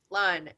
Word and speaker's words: Lan: are amazing writers but do i pronounce it lan or lon lon your writing is just